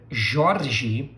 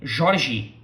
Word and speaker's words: Jorge: All right, so pronunciation of this name, Jorge, Jorge. You can also find yourself hearing Jorge, Jorge. Why? Because different parts of Brazil pronounce the R as you probably, if